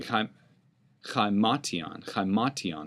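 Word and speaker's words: ἱμάτιον: Katon or excuse me Kon kiman is how it' be pronounced the rough breathing markm is the emphasized syllable Katon sounds a little bit to me like his mat his mat he may use his coat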